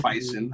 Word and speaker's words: Feisen: One, I finally got the fucking name right, and it is Feisen.